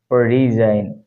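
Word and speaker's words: resign: এটা উচ্চারণ করতেছি না রিজাইন রিজাইন মানে হচ্ছে অবসর নেয়া এক্ষেত্রে আমরা এই জি এর উচ্চারণ করতেছি না আমরা শেষে আইনের মধ্যে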